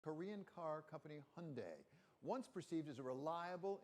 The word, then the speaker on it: Hyundai: to ask how did Hyundai get so cool it's an EV rhymes with Kev and it's not just